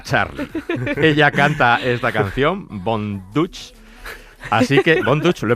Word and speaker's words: Von Dutch: Ella canta esta canción, Von Dutch. Así que, Von Dutch, ¿lo he pronunciado bien?